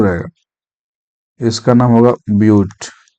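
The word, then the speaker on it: but: Carbon यदि चार ठो रहेगा, इसका नाम होगा ब्यूट। बट नहीं बोलना, बट का स्पेलिंग यही होता है, लेकिन ब्यूट बोलना है इसको, ब्यूट।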